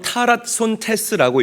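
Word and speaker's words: ταράσσοντες: 제가 하이라이트를 해 놨죠 어 헬라어로 타라 손 테라고 읽고 발음을 합니다 어지러 피다는 의미로 직역할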